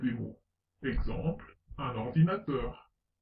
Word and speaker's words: ordinateur: Exemple, un ordinateur. On accentue un peu teur, ordinateur.